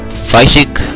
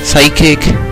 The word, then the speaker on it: psychic: He's a Fysic. Psychic. Yeah, that's how you say it.